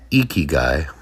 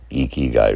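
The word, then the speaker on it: ikigai: Anybody that is familiar with Eeky Guy, it's spelled I K I G A I.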